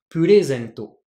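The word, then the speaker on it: プレゼント: Donc en fait, le Ré est plus haut que les autres kana, que les autres morts. Purezento.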